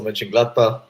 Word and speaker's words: Mönchengladbach: Your pronunciation is lovely. Not just Köln, also Mönchengladbach.